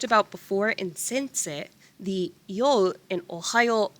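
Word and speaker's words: ohayou: before in sense in ohio we are just stretching out that o pronunciation in general these phrases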